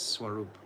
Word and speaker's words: Swarup: It's Swarup, not Sha. There's no Sha there. There's no accent on the S. It's Swarup.